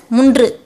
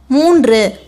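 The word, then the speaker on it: மூன்று: You shouldn't read it as mundru. I put ls to represent the long sound letter. You should pronounce it as moonru.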